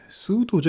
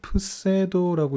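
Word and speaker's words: pseudo: 이 위경이라는 단어는 수도죠. 영어로는 수도, 푸세도라고 읽어야 될 텐데요.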